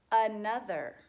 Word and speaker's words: another: We put the thinking cap over the O, students, because we often say another. We get lazy, and we want to remember that it's another.